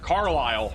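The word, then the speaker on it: Carlisle: I need to get the pronunciation of this place in Indiana. All right, it is Carile. All right, Carlile and Sullivan going around.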